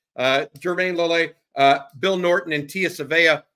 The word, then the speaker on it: Jermayne Lole: But Jermayne Lole, I think that's a better way to pronounce it than I was. Jermayne Lole, Bill Norton, and Tia Savea all coming in with 300-plus snaps.